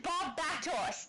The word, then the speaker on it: Barbatos: Hey, my mum with correct pronunciation, Barbatos.